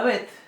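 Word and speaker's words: ב: La Bet, sin puntito adentro, sin dagesh, va a sonar como nuestra B corta. Pero como nuestra B corta bien pronunciada, como la pronuncian actualmente los españoles.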